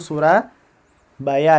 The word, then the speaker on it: Soerabaja: Soerabaja. Itu kalau dibaca zaman sebelum kemerdekaan itu Surabaya ya.